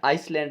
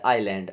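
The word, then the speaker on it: island: तो इसमें S silent होता है ना, आइसलैंड नहीं बोलते, आइलैंड, आइलैंड बोलते हैं, ठीक है ना।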